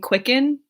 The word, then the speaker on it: QCKND: My favorite YouTubers are Drew Gooden, Danny Gonzalez, Cody Ko, a girl named Quicken. It's spelled QCKND.